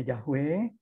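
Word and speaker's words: Yahweh: dibaca 22 pembacaan gitu Jadi ada yang membacanya jahwe ada yang membacanya jahova tergantung terjadi mereka memakai masoretic text yang mana gitu itu ada-ada ada naskah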